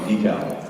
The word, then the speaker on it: decal: there's different pronunciations um stickers on your car are called decal appear they're called de um pray is called gravy